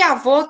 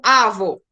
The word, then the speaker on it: avô: E se tem duas sílabas e a última sílaba é a mais forte, eu não chamo avô, não é avô, é avô.